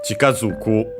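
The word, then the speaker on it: 近づく: So yeah, Chikazuku means to approach. By the way, luckily it's accented just like Tsuku.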